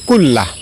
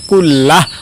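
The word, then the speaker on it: كُلَّهُ: আল্লাহুম্মাফিরলি জামবি কুল্লাহ। আমি আবারও বলছি। আল্লাহুম্মাফিরলি জামবি কুল্লাহ। লাস্টে হা উচ্চারণ কুল্লাহ। অথবা কুল্লাহু এভাবে পড়বেন।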